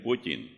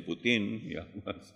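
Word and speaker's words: Путин: que el nombre de Vladimir Putin que es así como se pronuncia algunos dicen putín no s De dónde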